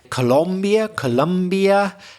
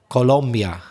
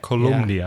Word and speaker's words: Colombia: I know in Spanish it's, forgive my bad pronunciation, but something like Colombia. Is that more or less right? That's how I would say it, Colombia. Yeah. But in English we tend to say Colombia. So that second O, we pronounce it different to the first O.